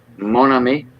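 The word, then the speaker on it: mon ami: you say it again Monami Monami okay my friend you know like Mah but m o n but you don't you don't say the N Mo well you do it's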